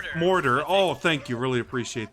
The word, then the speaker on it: Mordor: how he pronounces like Mordor oh thank you really appreciate that order Oh Mordor okay thanks think of water except it's Mordor yeah that makes sense or